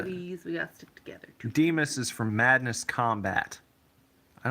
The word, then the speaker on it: San Dimas: here you know uh the correct way to say it is Demas Demas like San Dimas High San Dimas High football